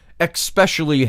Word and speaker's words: especially: Especially has no X in it.